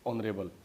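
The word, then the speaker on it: honourable: और यहाँ पे एच साइलेंट होता है, एन R, hair, ऑनर, honest, ऑनरेरी, ऑनरेबल।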